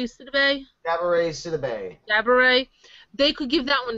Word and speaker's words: Gabourey: Like with Coven, they could give Coven to I keep saying her name wrong. Gabori Sidibe? Cabaret Sidibe. Gabourey.